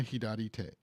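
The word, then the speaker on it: 左手: So like if it were other kanji, so if it was left and then like another kanji like turn or something, it would be sa. But since it's a body part kanji, and it changes to the hidari version of the hidari pronunciation.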